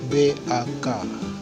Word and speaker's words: bak: B itu tidak tidak terlalu nampak B, tapi ada campuran W-nya. Contohnya bak, berarti bacanya itu bak. Jadi ada B dengan W sedikit bunyi begitu.